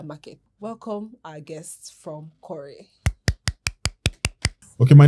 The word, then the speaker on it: Qoray: We had to change the name from Ko to Cory actually so that the whole full name can be pronounced right, yes.